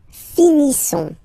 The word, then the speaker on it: finissons: Nous finissons. Okay, I-S-S-O-N-S. Ils sont. Nous finissons. Finissons. Okay, final S not pronounced. Nous finissons.